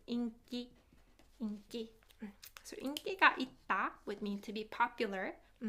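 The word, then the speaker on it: 인기: have popularity inky inky i think i mentioned it in a consonant assimilation lesson that it's pronounced inky would mean to be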